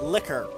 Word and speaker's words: liquor: I do like how you say it, liquor. It's like liqueur, you know? The very word rolls off the tongue properly.